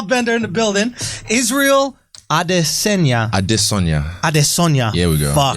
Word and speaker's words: Adesanya: Like Yoruba, you have to sing the tone. It's a tonal language, so you have to sing it. Adesanya. Here we go. Yeah. Adesanya.